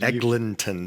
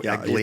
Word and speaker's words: Eglinton: And by the way, it's Eglinton, but every time I type it, it autocorrects it, and I don't always fix it. It's without a G. Eglinton. Oh, I'm pronouncing it. That's fine. Eglinton. There's no Egling.